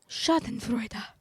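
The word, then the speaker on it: Schadenfreude: Shoden Freuda. That's how you pronounce it.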